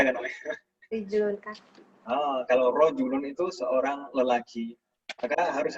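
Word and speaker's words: رَجُلٌ: Misalnya kata rojulun gitu misalkan. Rojulun dibacanya harus sesuai harokatnya rojulun, jangan sampai dibaca rijulun misalkan. Maka nanti akan berubah artinya.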